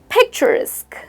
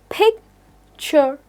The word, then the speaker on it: picturesque: Now, instead of using these basic words, why don't we replace them with picturesque? It is 3-syllable word pronounced as picturesque.